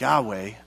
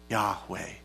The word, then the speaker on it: Yahweh: that if you pronounce yahweh it's the yo it's the letters are you hey yod hey yahweh they said the name of god actually sounds like breath so when you breathe